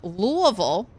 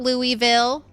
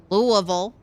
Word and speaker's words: Louisville: And then Louisville, that's how you say it. Not Louisville, not Lewisville. Louisville.